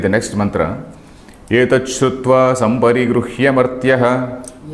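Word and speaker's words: सम्परिगृह्य: Etat Shrutva Samparigruhya Martyaha. Of course, I have to pronounce this Gru also. Samparigrihya Martyaha.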